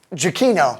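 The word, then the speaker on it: Giacchino: right and so chic how you say is listen like Jackie no Jackie no it's one of those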